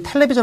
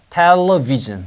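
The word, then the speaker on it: television: 우리가 테레비 아고 하잖아 그 일본식 발음에 L이 그 일본 사람들이 안 돼서 그러는데은 이게 윈니 뒤에 혀가 이렇게 다야 돼 아이 너무 붙었다 이렇게 렇게 다야 돼 그러니까 애 갈 때 다야 돼 텔 텔레비전 텔레비전 이렇게 해야 LC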